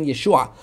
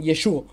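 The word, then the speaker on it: ישוע: Sensato pensar de que así decían los galileos que yo decía yeshua porque ellos no tenían la gutural y por eso decían yeshua yeshua o yeshua Y eso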